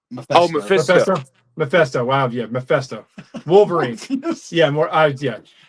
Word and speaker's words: Mephisto: How do we pronounce this dude? Morpheus? Oh, Mephisto. Mephisto.